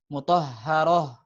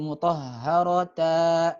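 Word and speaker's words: مطهرة: Ya, maka kalau ta marbutoh kalau waqaf ya dibacanya seperti ha saja biasa ya. Seperti ha biasanya. Mutahharoh, mutahharoh. Bukan jadi mutahharata. Nah, ini keliru. Mutahharoh, mutahharoh.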